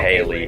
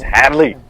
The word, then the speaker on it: Hadley: Yeah, I said her name wrong. I said Windsong Haley. Hadley. It's Hadley.